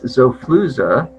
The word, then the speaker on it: Xofluza: right it is uh it's zoflooza brand name is it spelled with a z x-o-l-f-u-z-a for all of you